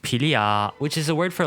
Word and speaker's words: Philia: Her codename is pronounced Philia, which is a word for love in ancient Greek.